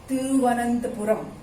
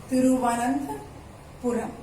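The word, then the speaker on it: Thiruvananthapuram: Thiru, THIRU, Thiru, इसको थ pronunciation आता है, थिरु, तिरुवनंतपुरम, तिरुवनंतपुरम। थोड़ा साउथ इंडियन एक्सेंट के साथ, तिरुवनंतपुरम, तिरुवनंतपुरम। वैसे हम नॉर्थ इंडियन इसको तिरुवनंतपुरम बोलते हैं, तिरुवनंतपुरम, लेकिन थोड़ा ये थ का साउंड आता है, तिरुवनंतपुरम, तिरुवनंतपुरम।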